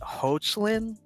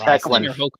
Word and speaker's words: Hoechlin: But either way, Tyler, is it Hoechlin? Brick? Do you know? I have no idea. I just know he's awesome. I don't know his name. I don't know. I think it's pronounced Hecklin.